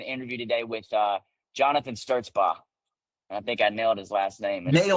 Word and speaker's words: Stertzbach: STS back probably, but I guess that that ch is, uh, is silent, but it is.